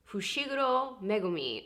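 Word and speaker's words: Fushiguro Megumi: back because i couldn't leave myself without saying fushigoro megumi or megumi got it continue um but one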